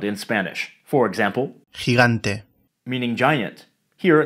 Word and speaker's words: gigante: Gigante. Meaning giant. Here, the second G is pronounced as a soft G. Gh. Gigante.